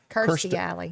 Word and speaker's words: Kirstie Alley: Kirstie Alley.